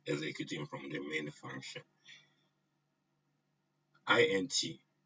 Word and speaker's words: int: INT int, I pronounce it as int, means the function returns an integer value.